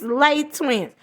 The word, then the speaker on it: Les Twins: up and have arguments it's not less twins it's late twins they call themselves Less twins okay we know that in Francis pronounce l well they they don't care about that they call themselves Less twins they have said it many interviews many times when they have introduced themselves they say less twins and they'll say